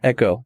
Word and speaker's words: ECCO: company called, I hope I'm pronouncing it correctly, ECCO Safety Group. Is that how you say it? You got it right. Great. Yep. ECCO Safety Group. Yeah. ECCO.